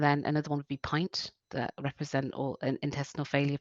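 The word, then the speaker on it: PINNT: And then another one would be Pint, that represent all intestinal failure patients. Okay. So Pint. Pints. So it's spelled the same way as you spell a pint of milk. Okay. Sorry, it's a double N, a pint, but with a double N.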